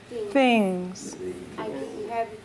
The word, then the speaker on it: things: 9 fix things uh-huh you see how my tongue presses on my teeth things yes you do pronounce the ass on ya fix things yeah that's what makes it difficult to pronounce yeah mmhmm yeah you need to generally in English remember always to pronounce the end of the word so fix fix things yes so you have two s sounds any other number you